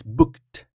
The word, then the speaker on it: booked: So it's k. Here, not id, it's booked.